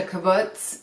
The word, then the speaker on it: kibbutz: He worked on, I believe it's pronounced a kibbutz in Israel, okay?